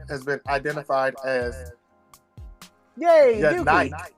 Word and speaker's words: Yanike: So, since this arrest, the man has been identified as Yay, Yanike. Yanike. Y-A-N-I-K-E. Yanike.